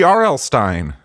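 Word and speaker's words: R. L. Stine: Free Arlstein rhymes with free Palestine."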